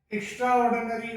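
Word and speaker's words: extraordinary: यहां तक तो ये एक्स्ट्रा ही होता है, लेकिन जब ये ऑर्डिनरी के साथ में कंबाइंड होकर के आता है तो तब ये एक्स्ट्राऑर्डिनरी बोला जाता है, एक्स्ट्राऑर्डिनरी, एक्स्ट्राऑर्डिनरी, इस तरीके से।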